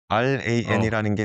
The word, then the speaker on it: RAN: 근데 이게 랜 r이 있고 lan이 있는데 똑같아요. 제가 제가 발음하면 똑같아 가지고 그래도 랜 r이 아니라 예 r알 r입니다. r 느껴졌어요. 발음에서 ran이라는게 느껴졌습니다.